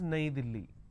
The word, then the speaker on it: Delhi: is a capital City in Hindi New Delhi is pronounced as naidili right in English the